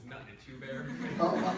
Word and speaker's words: Nut Nut Two Bear: The pronunciation is Nut Nut Two Bear.